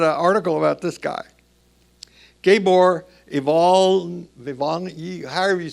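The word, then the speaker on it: Iványi: So, in the December issue, they had an article about this guy, Gabor Ivanyi, however you say his name. Who? Ivanyi.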